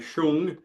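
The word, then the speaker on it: 松: Now, just to go back, and the term sung itself, S-O-N-G, spelled song, but it's pronounced sung, is, some people say shung.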